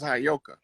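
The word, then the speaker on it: Heyoka: I was telling you that word is properly pronounced as Hayoka.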